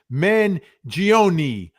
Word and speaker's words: Mangione: Okay, JM Vinny, why are you mispronouncing Luigi's last name? It's Mangione.